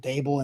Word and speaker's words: Daboll: And I'm also I'm glad you said uh Daboll and brings the table because that's uh apparently how you pronounce Brian Daboll. Daboll and table. It's the same way.